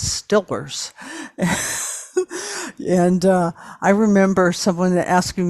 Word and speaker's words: Steelers: Even God, that goes back, and the Steelers, which of course you can only pronounce as Stillers.